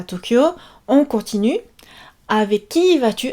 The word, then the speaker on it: Tokyo: Donc Tokyo, attention dans la prononciation, on ne dit pas Tokyo. On dit Tokyo. Ouais, c'est ça. Tokyo. 4 syllabes. On allonge les O.